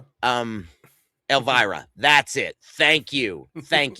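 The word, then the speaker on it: Elvira: You know, you got or how do you pronounce her name? Vampira. You know what I mean? Elvara. Um Elvara.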